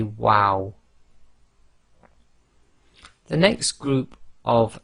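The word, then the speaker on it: و: and when you say wow wow you make a small circle with your lips and it's only the two outer right and left parts of your lips that are actually touching so say wow the next group of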